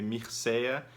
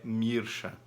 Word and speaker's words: Mircea: e o Micha Eliade se escreve mirceia geralmente no Brasil a gente usa essa pronúncia mais procurando lá um pouquinho no Google A gente vai ver que a pronúncia em romeno que é o idioma original dele e do nome é mirucha então Otto e Eliade